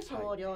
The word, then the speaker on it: 精霊: れてまして聖霊と書いて送料と読みますはい万葉集に